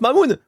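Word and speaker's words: Mammon: Il se prononce Mamoun.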